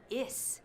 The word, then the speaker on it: is: No se pronuncia is. Se pronuncia is. Z, como la mosca.